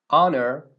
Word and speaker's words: honor: Beginning Sounds y also there are a few words that begin with a silent h that are preceded with n for example air ays honest like an honest person honor it's an honor to